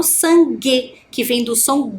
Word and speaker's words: sangue: Quando eu faço essa pronúncia, G, eu não escuto a vogal U que está ali, ó, entre o G e a vogal E, né? Eu apenas falo sangue, que vem do som G, né?